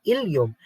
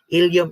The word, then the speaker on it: ileum: Okay, another set would be ileum. Ileum in the small intestine and ileum in the hip bone. So those are two different words which is pronounced the same.